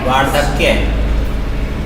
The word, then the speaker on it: वार्धक्य: वार्धक्य शब्द है, इसमें एक तो जिसमें रै ऊपर आता है उसका हमेशा उच्चारण पहले होता है, याद रखिएगा।